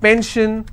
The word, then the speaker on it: pension: will stress on 10 if i have pension i will stress on pen so basically wherever i